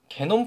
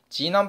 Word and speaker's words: 게놈: 게놈 프로젝트라고 우린 있거든요? 네, 게놈 프로젝트가 뭐야? 뭐 게놈이야? 뭐 욕하는 거야? 뭐야? 당연히 지남이라고 읽는 거야 돼. 진이잖아요? 유전자가 진. 지남 프로젝트예요.